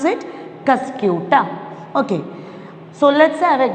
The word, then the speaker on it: Cuscuta: How we can pronounce it? Cuscuta.